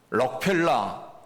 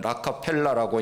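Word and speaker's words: Rockefeller: 우리가 많이 들었던 미국의 부호 록펠라 우리 발음으로는 록펠라고 하고 영어 발음으로는 라카펠라고 이야기를 합니다.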